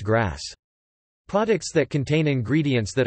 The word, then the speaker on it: GRAS: generally recognized as safe (GRA, pronounced grass).